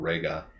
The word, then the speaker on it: Reiga: Yeah, it's pronounced Ultraman Reiga.